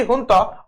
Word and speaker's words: junta: Burkina Faso was in news because the military junta, जुंता spelling है लेकिन Spanish word है इसलिए एच प्रोनाउंसिएशन देते हैं, military हुंता appoints the new prime minister.